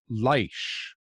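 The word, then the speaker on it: Laish: walked through this gate when it was called leicester l-a-i-s-h that's how you pronounce the city the former name of the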